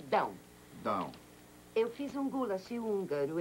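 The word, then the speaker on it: Dão: da com tio no e que se pronuncia down down eu fiz um gul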